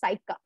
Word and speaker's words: saika: of the english word the word side car that's how it's pronunciated as saika in myanmar cycle rickshaws or